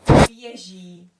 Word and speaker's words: běží: So this is pronounced běží. B, je, ž, i, which is long. So běží, it's a long one.